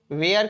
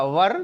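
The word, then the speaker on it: were: वेयर किसके साथ लिखेगा, या वर, शुद्ध प्रोनाउंसिएशन वर होता है, तो वर किसके साथ लगेगा, तो प्लूरल सब्जेक्ट के साथ और प्लूरल नाउन्स के साथ।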